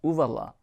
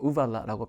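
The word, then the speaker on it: uvula: 자, 그 다음 조금 더 성대에서 올라와서 목젖 발음 유의해 볼까요? 우발라. 목젖은 영어로 우발라라고 표현하죠.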